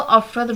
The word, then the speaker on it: Offred: Also, Offred resembles the pronunciation of the word offered, as if the handmaids were a gift.